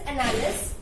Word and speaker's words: Annales: The spelling is Annales, but in French we pronounce it as Annales school.